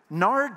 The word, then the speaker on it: nard: from essence of nard nard just sounds nasty doesn't it rhymes with lard doesn't sound like you